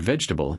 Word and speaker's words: vegetable: The pattern with comfortable and vegetable is called syllable reduction. In fast, natural speech, unstressed syllables get swallowed.